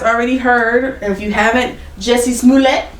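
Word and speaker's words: Jussie Smollett: heard if you haven't jessie's moulet you gotta say his name like that thanks to dave chappelle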